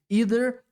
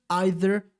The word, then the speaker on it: either: E as duas pronúncias são válidas, tá? Uma palavra com duas pronúncias em inglês, either, either, uma coisa só.